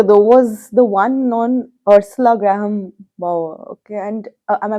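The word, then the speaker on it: Ursula Graham Bower: Actually, my favorite chapter though was the one on Ursula Graham Bauer. Okay, and am I pronouncing her name Yes, correctly?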